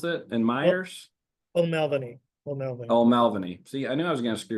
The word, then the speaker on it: O'Melveny: Is that how you pronounce it? And Myers? O'Melveny.